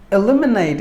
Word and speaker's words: eliminate: concepts elaborately word number three eliminate eliminate it's a verb e lim e nate eliminate we have distressed the second syllable lim should be given more volume than the rest of the syllables eliminate meaning to take